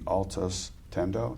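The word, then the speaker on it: Altius Tendo: Um, you were a distinguished graduate of the Coast Guard Chiefs Academy where you were awarded the Altus Tendo. Did I pronounce it right?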